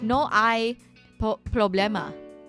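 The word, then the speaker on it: no hay problema: No, cuz you don't pronounce the H. It's no I problemma.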